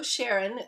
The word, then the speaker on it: Charron: Yeah, so the songwriter is a fellow named Joe Sharon, spelled with a C, Charron, and he's a kind of a known entity around these parts.